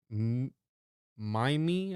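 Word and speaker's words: mimeme: Mime, I think is how you say it, M-I-M-E-M-E, comes from the suitable Greek root, but I want a monosyllable that sounds a bit like gene. I hope my classicist friends will forgive me. So he literally came up with it, and he said it needs to rhyme with cream.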